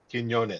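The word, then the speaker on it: Quiñones: Joe Quinones, I guess is how you say his name. God, I'm not good at pronouncing names. Quinones.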